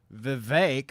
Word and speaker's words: Vivek: He's telling you his name is fake by pronouncing it that way. So Jason Station 94 here says, Vivek like Cake, Ramaswamy rapping "Lose Yourself" is one